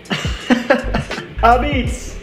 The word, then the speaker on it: apizza: ah-beetz. Apizza. Let me get. Apizza. I still can't pronounce it right.